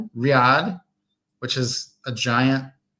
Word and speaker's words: riad: Riad Riyad which is a giant kind of like a lodge hotel house lodge hotel thing.